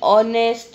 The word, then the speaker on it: honest: एन ऑनेस्ट मैन। अब यहाँ देखो वर्ड है वो शुरू होता है एच से, HONEST, बट प्रोनाउंसिएशन है वो गुजराती में आप जाओ तो स्वर एंड व्यंजन है।